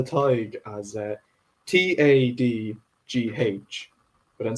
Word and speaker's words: Tadhg: because some people spell Tig as Tadgh, but then some people spell it as Tadhg, which is how I spell it.